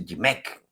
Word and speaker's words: GMC: Gonzalo Monroy es director de la consultoría GMC, eh se pronuncia Gimec.